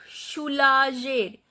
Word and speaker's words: soulager: Because when G is followed by E, the pronunciation of G is je. Otherwise, when G is followed by O or U or A, the pronunciation of G is G. But here the word is soulager. So that is why we have added an extra E to make the pronunciation of G as je, not G.